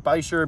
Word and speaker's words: bichir: I don't even know how you pronounce it. It's like bichir, bichir. It's bichir.